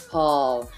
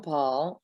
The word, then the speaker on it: Pawl: So tell me, Paul, Pawl, it's spelled Pawl. That's the first time I've ever seen it like that. Yeah, it's there's not really a reason for the W.